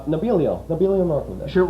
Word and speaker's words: Nebelio: spell it with s n but it's really nabilo it's pronounced nabilo that's that's a followup right there oh I'm